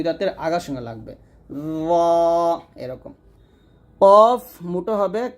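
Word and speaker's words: قاف: আগা উপরে দুই দাঁতের আগার সঙ্গে লাগবে এরকম কফ মোটা হবে কাফ পাতলা হবে সবসময় মনে রাখবেন কফ এটা পাল্টা আওয়াজ করে উচ্চারণ করতে হয় কফ আর কাফটা নরমাল ভাবে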